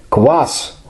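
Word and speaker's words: квас: my use my youth class that's how we pronounce it was sold in the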